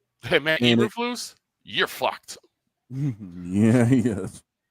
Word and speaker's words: Eberflus: I know why, but you got to say his name right. Matt Eberflus. Uberfools.